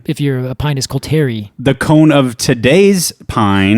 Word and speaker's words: Pinus coulteri: Coulter pine, Pinus coulteri. It's funny when you said that, Pinus coulteri, because I always pronounced it Pinus coulterii. And that's not it. There's only one eye there.